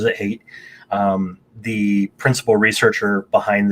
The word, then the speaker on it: Haidt: And so using moral foundations theory as kind of the backbone for this, Jonathan Haidt, the the it's it's spelled Haidt but he pronounces it Haidt, um the principal researcher behind this, he proposes that there are six moral taste buds.